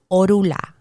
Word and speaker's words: Orula: And in Spanish, you will hear orula. Like the N for some reason disappears in the pronunciation, orula, and you'll hear that.